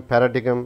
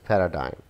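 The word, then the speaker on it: paradigm: ये लफ्ज़ जिसे हम पैराडिगम, पैराडिगम पढ़ते हैं, this is नॉट पैराडिगम, this is पैराडाइम, पैराडाइम, पैराडाइम।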